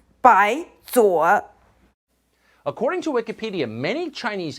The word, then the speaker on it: 白左: It's not 白扫, it means 白左.